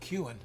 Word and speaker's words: Kuhn: I don't know why I love saying that name, but it's actually pronounced Kuhn.